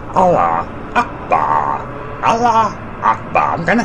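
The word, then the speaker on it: Allahu Akbar: Allah fuck ya. Allah fuck ya. Oh, sorry, I said it wrong again. It's pronounced Allah Akbar.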